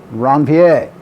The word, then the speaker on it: Ranvier: the node of and do not do the american thing and say a word that rhymes with reindeer that's a la francaise see my french reference before if i was dr bassan here i would have no problem with the pronunciation but how would you pronounce that r word a la francais ranvier so this is a